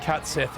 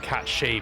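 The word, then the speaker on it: Cat Sìth: I think the the problem with cats Sith is because cats Sith is actually pronounced cat she because it's a Scottish word for fairy cat.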